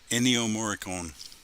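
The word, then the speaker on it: Ennio Morricone: morte was it was that his last name pronounced enio moricon okay there you go there was a tribute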